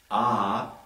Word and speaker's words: Ah: So this is a recitation of 3 syllables: Om, Ah, A-H, and Hum, H-U-M.